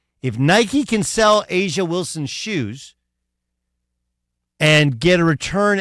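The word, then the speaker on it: A'ja Wilson: And the other part that's really interesting is, how do you say, Aja Wilson? Asia Wilson.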